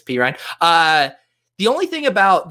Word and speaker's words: Perine: phonetic pronunciations and so i do know that it's p ryan uh the only thing